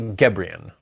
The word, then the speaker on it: Gebrian: It's Molly Gebrian. Gebrian.